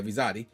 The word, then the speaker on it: Rizzotti: So let's get the statement from Jen Rizzotti, how you pronounce it? Yeah, Rizzotti, who is the selection committee chair.